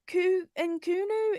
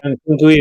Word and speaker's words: Nkunku: They've got Christopher Nkunu, is he pronounced? Yeah, Nkunku is injured.